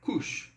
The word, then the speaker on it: couche: Se eu falar ele se deita, il se couche. Então vamos lá. Il se couche. Atente-se aqui à pronúncia desse OU. Novamente, esses fonemas, no caso, OU, AU, OI, são a base do francês, tá, pessoal?